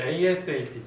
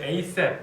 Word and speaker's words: ASAP: 그렇지, ASAP 또는 ASAP 이렇게 읽으면 되고 누가 아삽이라고 하는데 아삽은 아니에요. ASAP라고 읽으시고 위에 보자.